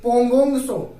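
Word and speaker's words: पैंगोंग त्सो: इनका नाम थोड़ा तिब्बती टाइप का है, जैसे पोंगोंग सो और सो मोरिगो। मैं लिख देता हूं, पोंगोंग सो, टी साइलेंट होता है, और सो मोरिगो, ये 2 ऐसी झील हैं जो लद्दाख रीजन में आती हैं।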